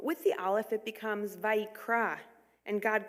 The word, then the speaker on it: Vayikra: Vayikra ends with an aleph, a silent letter, but this is no ordinary aleph.